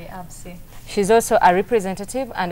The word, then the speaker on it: AVSI: And today with us in the studio, we have Francesca Oliva from AVSI. From AVSI. Am I pronouncing it properly? Exactly, AVSI.